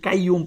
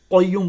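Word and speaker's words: القيوم: অনেকেই কাইয়ুম পড়েন। এখানে কিন্তু কফ। এটা কিন্তু কাফ না। কাইম পড়তে হবে।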